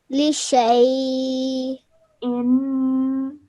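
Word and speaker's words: لشيء: That means this is Alif Zada and you don't pronounce it when you are reciting. So you can see that the Alif is missing after the sheen and you straight away go into the Ya with the sukoon on it. So this becomes a Ya leen.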